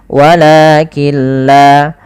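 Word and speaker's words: ولكن لا: Apabila ada nun sukun bertemu dengan lam, maka cara membacanya kita idghamkan nunnya kepada huruf lam, sehingga di situ tidak dikasih harokat, artinya nunnya tidak dibaca, langsung ke lam yang berharokat tasydid, walakilla.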